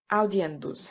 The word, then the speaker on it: audiendus: A Latin word has as many syllables as it has vowels and diphthongs. Thus, aestate has 3 syllables. Audiendus has 4.